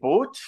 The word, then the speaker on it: Puig: Doncs tenim amb nosaltres a l'Ignasi Puig, que és psicòleg. La P sempre es pronuncia. Sí, sorpresa, es pronuncia.